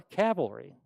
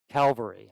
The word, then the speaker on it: Calvary: the city Gates was became El gotha or cavalry Calvary I'm sorry I always get those pronunciations mixed up and we all know the